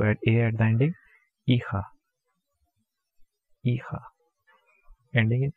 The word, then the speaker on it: hija: H is silent, hijo. And for daughter we just have to add A at the ending, hija.